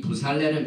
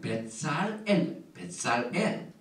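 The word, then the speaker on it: בצלאל: 그 다음에 이 부살렐은 유다지파에서 지명한 루악 엘로힘, 하나님의 신이 성령에 충만한 자입니다. 이 부살렐, 히브리 말은 벳살엘.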